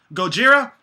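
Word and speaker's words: ゴジラ: Americans that they're not even gonna try to pronounce the right name. What's it called? Gojira?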